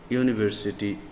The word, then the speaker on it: university: That is why we have used a before university, unit, user. U is a consonant sound, though the letter starts with a vowel letter U.